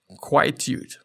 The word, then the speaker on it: quietude: be heard quit you'd quite you'd as it is pronounced of story a state